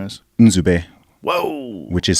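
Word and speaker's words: Nzube: yeah my tell your real first name is in whoa which is spelled n z u b e so that's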